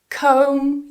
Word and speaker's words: comb: Comb your hair. Comb. So, it has a silent B. Don't try and pronounce the B when you have that combination of M and B together. So, for example, in the